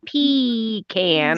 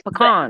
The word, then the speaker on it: pecan: not p e e it's not p can it's pecan but you say p p a p like peas yeah when you're pronouncing the letter p y'all that just doesn't sound right on my tongue like pecan it's pecan pecan you know two words